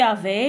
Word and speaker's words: avais: Bon, tu avais, le S ne se prononce pas.